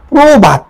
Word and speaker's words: প্রভাত: প্রভাত, দেখো প্রভাত, প্র ওকার দিয়ে ভাত, প্রভাত।